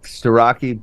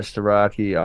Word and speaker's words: Starocki: Oh, Marinelli forfeit over Starocki on the backside. Oh yeah, I had a Pennsylvania native saying that I pronounced Starocki correctly, and I'm the only one in FRL who does so, and they would like